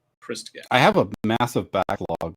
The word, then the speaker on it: Christgau: People often mispronounce the last name, but it is pronounced Christgau.